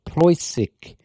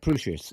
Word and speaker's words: Preußisch: So Proy sick Preußisch Ellau. Preußisch Ellau. So it says as in allowed D. Preußisch. So It's not Prussisch? it's not Prussisch, it's Preußisch.